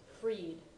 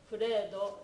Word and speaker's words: Freed: It turns out that it was actually pronounced Freed, but I didn't know that. So I was guessing Furedo and Furaido, and I was wrong both times.